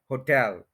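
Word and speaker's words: hotel: word ऐसे नहीं है ये है होटल टेल के ऊपर स्ट्रेस है ह के ऊपर नहीं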